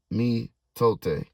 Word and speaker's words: mitote: Your whole mind is a fog, which the Toltecs called amiote, amiot, pronounced mitote, mitote, mitote.